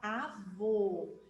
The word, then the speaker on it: avô: imagem do vovô Então quero que vocês agora pronunciem a palavra avô Então vamos lá alto a vô abriram a